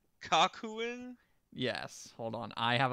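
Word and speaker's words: Kakuen: the official the like quote official name is kakuhen kakuhen yes hold on I have a picture here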